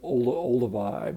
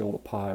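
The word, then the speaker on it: Oldupai: a lot of people call it sort of Olduvai but it's actually all the pie which was a mispronunciation of the way it's written you know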